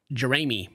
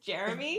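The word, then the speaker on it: Jeramey: we got the casts Chelsea Matthew Trevor and jery mhm is that how you say it it's Jeremy Jeremy parents you know I understand you have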